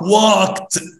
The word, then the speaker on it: walked: Walk, walked. Walk, walk. بص ركز معايا كده في النطق، هنا loved بالدي، هنا walked بالتي في النطق.